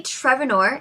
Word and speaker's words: Trevennor: associated with the Vikings trevonor is that how you pronounce your name Vanessa okay and that's a Cornwall a cornice pronunciation right great um she